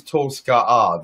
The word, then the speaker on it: Tolska'a: And my name is Tolska'a there, which is the royal pronunciation.